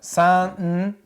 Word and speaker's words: santoku: Another name for a wabocho is a santoku.